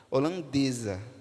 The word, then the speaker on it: holandesa: Holanda ela é holandesa percebe que Holandês tem o som de s mas a partir do momento que é vertido para o feminino se torna holandesa o som muda não é verdade o som muda mas a grafia continua a mesma você não vai escrever com z você vai escrever com s holandesa holand holandesa ambos